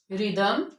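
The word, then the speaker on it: rhythm: H silent होता है राइम रिदम rhinoceros असस इनमें एच साइलेंट है क्योंकि ये भी आरएच से स्टार्ट हो रही हैं इसके बाद हमारा लास्ट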